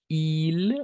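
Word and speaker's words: ils: Il, on va prononcer il. Pourquoi? Parce que le S à la fin est muet.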